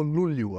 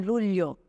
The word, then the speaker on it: Luglio: Bom, se escreve Luglio, porém em italiano, que é a origem do meu sobrenome, Lulio. Lúlio. Lulio, porque o GL em italiano é o LH nosso, em Entendi. português.